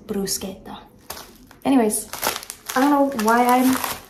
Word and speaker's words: bruschetta: from a full-blooded Italian I do also say bruschetta just because you know it's what you hear all the time but the the technical pronunciation is brusa anyways I don't know